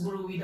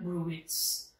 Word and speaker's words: bruit: Okay, it pronounced as Bruy daw, not Bruits.